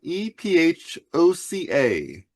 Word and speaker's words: Ephoca: And then it is it is made by Ephoca, e p h o c a. Ephoca. That's how they say it in Italian.